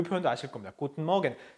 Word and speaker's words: Guten Morgen: 몇십 년 걸쳐 가지고 독일어의 r 사운드가 점점 약해지고 있어요.